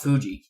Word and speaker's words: Fuji: Well, Aokigahara is a forest on the northwestern flank of Japan's Mount Fuji. Yep. Also it's Mount Fiji, yeah. Mount. Well, they pronounce it spelled Fuji.